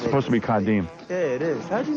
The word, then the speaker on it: Kadeem: It's supposed to be Kadeem.